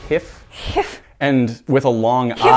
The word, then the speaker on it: GIF: There's the uncommonly used G sound of zh, so it would be jif.